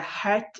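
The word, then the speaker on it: ח: So they, for example, pronounce the chet like a het. It's more guttural from the throat, and the ayin is also ayin.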